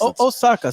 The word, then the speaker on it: Oaxaca: I always butcher the pronunciation, or how is it pronounced? Osaka. So Osaka. It's the easiest way to always remember it. I think you'll never forget it again. Is if you're associated with the Japanese city Osaka.